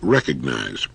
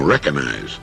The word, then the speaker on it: recognize: use of the word recognize time and again I hear people saying recognize there's a letter g in there and it's supposed to be pronounced now you don't have